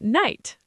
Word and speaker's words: knight: What about night? K N I G H T. Night. Same sound as the time of day.